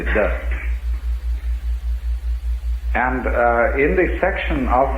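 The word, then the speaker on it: 德: The Japanese pronounce it toku, the Cantonese dak, and the northern Mandarins approximately de.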